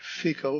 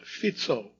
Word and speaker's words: Fico: not audible at enta correction to my previous pronunciation of the far-right anti-American prime minister of Slovakia spelled f it's not FICO but fito as we soon learned because he was shot in an assassination attempt some newscasters were still pronouncing it FICO I had mentioned him